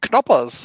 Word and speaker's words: Knoppers: it actually can operate because germans like to pronounce every letter in the word now like in english we have silent k's so it's knoppas so what do we